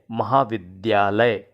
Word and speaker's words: महाविद्यालय: मिल रही है कि बहुत से लोग महाविद्यालय या विद्यार्थी बोलते हैं जबकि सही उच्चारण है महाविद्यालय विश्वविद्यालय विद्यार्थी अब जो